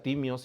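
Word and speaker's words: τίμιος: La palabra preciosa que también está escrito en en griego, significa timios, se pronuncia timios y significa de valor inmenso o incalculable.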